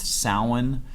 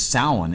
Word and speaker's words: Samhain: who don't know the company Samhain it's actually pronounced salen oh sorry no no but but now the